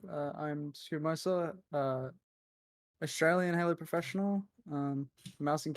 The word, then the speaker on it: Scoobmeister: It's Scoobmeister, right? Not Scoobmeister, Scoobmeister, yeah.